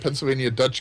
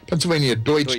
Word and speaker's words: Pennsylvania Deutsch: Little known fact is that Pennsylvania Dutch country was actually a mispronunciation. It was actually Pennsylvania Deutsch country.